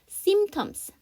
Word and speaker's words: symptoms: symptoms. symptoms인데요. 그래서 P 사운드 생략해서 symptoms 이렇게 하죠.